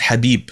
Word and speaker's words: Khabib: but in arabic so anyway his name is habib apparently and that's how this pronounced so i was listening to an interview